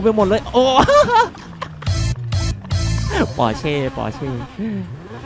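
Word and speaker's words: Porsche: ไป หมด เลย โอ ปอเช ปอเช ภาษา เยอรมัน เขา อ่าน ว่า porche นะ ครับ ผม ไอ้ พอส ผม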